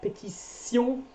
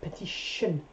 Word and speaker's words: pétition: The thing is, like, pétition, we pronounce it sion, not petition. So that would be in an English point of view, or at least an English pronunciation point of view, then we'll have a sh at the end. So every word finishing with T-I-O-N-S in English are pronounced sh, like nation, petition. So with a sh sound, in French, sion, with a s sound, sion, petition, nation, election, yeah, the election.